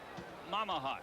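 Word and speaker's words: Mmahat: Kevin Mamahat is the way you pronounce that, they tell us.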